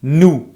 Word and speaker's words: nous: The second one is nous. Make sure you don't pronounce the S.